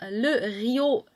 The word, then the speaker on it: Le Riot: Okay, so you know, I kind of want to say riot as it is spelled here, but when they put the le in front, it needs to be pronounced in pronounced in French, because le riot doesn't sound like right. So then it is, as I would say it, le Rio.